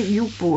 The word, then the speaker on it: Yupo: Si vous avez l'occasion de trouver du papier Youpo, alors ça s'écrit Y-U-P-O.